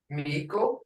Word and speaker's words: Miko: Miko, chief, as in English, mouse. Miko, mouse. Hear it?